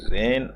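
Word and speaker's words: reign: कहते हैं under the रेन of evil रेन का मतलब क्षेत्र इसमें जी साइलेंट रहता है हमेशा आर ई आई जी एन बोला जाता है इसको रेन ऑफ एविल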